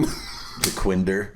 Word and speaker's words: Dequindre: Spell it again. The Quinder. That one is right.